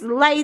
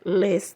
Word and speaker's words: Les: It's not Les twins, it's Lay twins. They call themselves Les twins. Okay? We know that in France it's pronounced Lay. Well, they don't care about that. They call themselves Les twins. They have said in many interviews, many times when they have introduced themselves, they say Les twins.